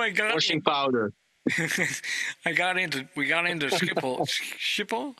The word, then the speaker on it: Schiphol: We got into Schiphol.